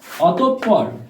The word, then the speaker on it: অতঃপর: viewers পরেরটি লক্ষ্য করো অতঃপর বানানটি অতপর উচ্চারণ নীতি আসছে অতঃপর ভিউয়ার্স অতঃপর অতপ থেমে গেছে তাই হসন্ত আর পর পর অতঃপর এই হলো উচ্চারণ নীতি ভিউয়ার্স পরবর্তীতে খেয়াল করো